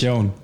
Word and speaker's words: McKeon: McKeon. Yeah, McKeon. Is it McKeon? Is that how you pronounce it?